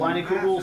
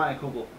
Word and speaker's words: Leinenkugel: By reading it, I've heard it called Leinenkugel, so I'm going to call it Leinenkugel.